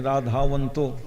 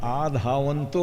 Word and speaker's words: आधावंतो: हैं, क्या नाम, अनिरुद्धाचार्य, वो कहते हैं राधावंतो है, राधा शब्द है। विद्वानों ने बड़ा खंडन किया। अरे वहाँ आधावंतो है। रा का उच्चारण आप विद्वान हो करके राधावंतो नहीं है, आधावंतो दौड़ने अर्थ में।